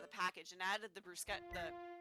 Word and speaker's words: bruschetta: I warmed them up according to the package and added the bruschetta. I'm mispronouncing this because I never hear this spoken out loud, and I can't remember. Bruschetta? Bruschetta? Bruschetta, I think. It is bruschetta.